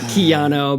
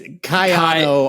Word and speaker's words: Kayano: I think I'm pretty sure it's not Keano, but it's Kano. It's Kayano. I get it. Yes. YouTube comments. I don't know if the empisus is on the Kyano or if it's Kayano.